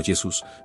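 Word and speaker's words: Iesus: Es importante destacar que en latín medieval y renacentista la inicial podía pronunciarse como nuestra actual y consonántica. Por lo tanto, Yesus sonaría algo así como Yesus manteniéndose no tan lejos de la pronunciación original Yeshua.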